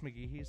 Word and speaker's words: McGee: I said McGee. It's McGee. So that's my bad.